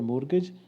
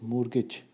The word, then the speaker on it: mortgage: So in this word mortgage, this are T. Okay, the T is silent, which says mortgage.